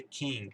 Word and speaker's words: king: Já aqui não, aqui é king, então não tem nem A, você não fala o que a gente conhece por A.